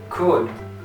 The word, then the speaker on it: could: Pull, foot, could. Mirad bien esta palabra cómo se pronuncia. Could. Lo digo porque hay muchos de mis estudiantes que dicen could. Y esta D, aquí, como si no existiese.